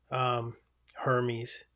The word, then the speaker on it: Hermes: And I do have like RoboFont by Hermes, Hermes, I believe it's pronounced in the typewriter world.